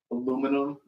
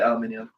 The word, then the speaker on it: aluminium: Yeah, we're actually supposed to say aluminium. There's like North American and like the European scientists. They came to like an agreement on, like how to pronounce things, Mhm. and they had to say one word our way, and we're like, okay, we're starting saying aluminium, and then we just didn't.